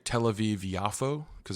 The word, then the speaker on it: Yafo: says like Tel Aviv yafo because there's no J in Hebrew and so that's how they say it and so like japa